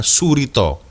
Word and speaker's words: Soerito: Soerito ya bacanya Surito.